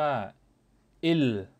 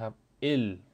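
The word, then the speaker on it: 일: ว่า ยอง นะ ครับ เลข 1 อ่าน ว่า อิล นะ ครับ อิล เสียง ลิง นะ เป็น ลี อึน สะกด นะ ครับ เลข 2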